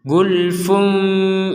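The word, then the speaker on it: غُلْفٌ: satu ada mim Nah di sini bertemu dengan ba berarti dibacanya gulfum jad ini Gul gulfum bertemu ba maka dibacnya gulfum seperti itu waqu qulubuna gulfum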